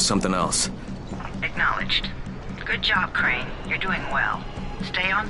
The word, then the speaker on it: Crane: store no my name's crane crane crane rhymes with train and brain and sun and grain and rain and plane and the other kind of plane and and can i